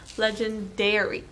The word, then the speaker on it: Legendairy: Yeah, Legendairy, because I'm a milking mama, box.